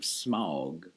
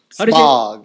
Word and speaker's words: Smaug: Mike and I watched The Hobbit last night, and it was The Hobbit, the second one, the Desolation of Smaug. Smog.